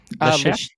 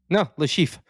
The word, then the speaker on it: Le Chiffre: Le Chef? Le Chiffre.